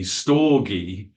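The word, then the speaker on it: στοργή: Greek helenistic terms and that's s t o r g e with an accent over the E stoy love which is Parental specifically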